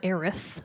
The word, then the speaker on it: Aerith: I've always called her Eris. Aeris. Some people call her Aerith with a TH. I think that odd. sounds stupid. So I say Eris.